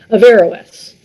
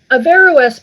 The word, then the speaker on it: Averroes: Muslim world of the Golden Age, Ibn Rushd, pronounced in the Latinization Averroes, lived in Cordoba, Spain, from 1126 to 1198.